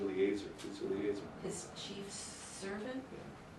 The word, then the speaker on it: Eliezer: Actually, it's A. E is pronounced A. Eliezer.